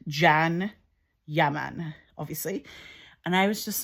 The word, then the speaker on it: Can Yaman: It's called Jan, but it's spelled C A N. So it's Kanya Man if you're like looking at it. Kanyaman from Scotland, but it's actually pronounced Jan Yaman, obviously.